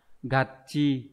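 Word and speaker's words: 合致: chữ chí đúng không bình thường các bạn sẽ đọc hợp là Go nhưng mà trong trường hợp này mà các bạn đọc là số 2 là bị sai đúng không nhở trường hợp này nó đọc đặc biệt là gạ chi như vậy cái Đáp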